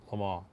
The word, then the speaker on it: Le Mans: Cobra Le Mans, or Le Mans, but it's pronounced Le Mans.